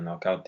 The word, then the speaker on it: knockout: Le K dans knockout, le premier K ici dans knockout est muet.